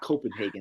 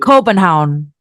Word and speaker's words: Copenhagen: It's not Copenhagen. That's the American way to say it. How do you say it? Copenhagen.